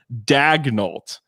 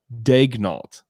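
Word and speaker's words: Daigneault: in the media guide it's mark dagnolt like dagnolt like go and look at uh brett dawson's tweet that's i'm pretty sure that's how you say it so this may be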